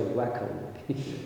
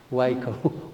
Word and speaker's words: WAICO: I'd rather pronounce it in a French way, WAICO. Much easier, yeah. WAICO WA WAICO. Is it Is it correct?